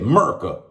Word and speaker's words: 'Merica: america it's america but it's spelled apostrophe capital m e-r-i-c-a merka that's how we pronounce it over here versus harry's